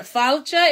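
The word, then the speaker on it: fáilte: So, remember, falcha is how we say it in Gaelic, welcome.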